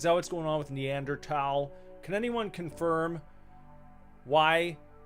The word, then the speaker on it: Neanderthal: I growing up it was always thaw. Growing up everyone always said thal. Now I'm hearing neanderal. Is it just one of those things that someone recently decided they would pronounce differently and then it caught on and it became kind of like a hipster deal. It's like a hipster way of pronouncing it.